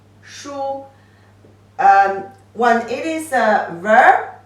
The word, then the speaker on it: 书: 横折横折钩竖点儿 The pronunciation is shu, shu.